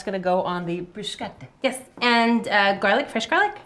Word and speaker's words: bruschetta: Bruschetta would be the Italian pronunciation, not bruschetta.